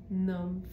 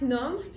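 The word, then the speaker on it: Nümph: Ça s'écrit N U M P H mais c'est ça. Mais il y a un tr sur le U fait que c'est NF fait que c'est la marque Nomf.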